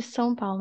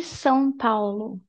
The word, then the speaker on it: São Paulo: So, that's the pronunciation. São. S-um. So, open your mouth. Say S. And then close your mouth and touch your lips. And do like S-um. Something. And just do this faster.